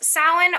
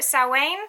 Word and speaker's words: Samhain: celebrating Samhain also pronounced salan or saw Wayne I think it's more traditionally pronounced Owen so if you're a